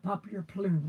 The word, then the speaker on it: Papier Plume: Yeah, Papier Plume.